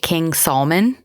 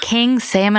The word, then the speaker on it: King Salmon: I heard somebody pronounce it King Salman. I'm like, I don't think that's how that goes. If it's in Alaska, it's salmon. You darn well know it is.